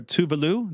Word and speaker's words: Tove Lo: my next guest is known professionally as toblo I call her tuvalu the Swedish pronunciation she's a Swedish singer